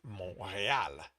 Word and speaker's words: Montreal: But anyway, it's Mo that he is silent, and real is with an accent on the e. Real. So it's Montreal.